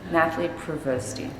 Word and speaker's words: Nathlie Provosty: Tell me the pronunciation. Nathlie Provosty.